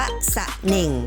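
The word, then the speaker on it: สะแหน่ง: ค่ะ ทำ ต่อ ไป คำ ว่า สั่น เอง อ่าน ว่า สะ เหน่ง คัน นี้ มา จาก ภาษา เขมร นะ คะ หมาย ถึง เขา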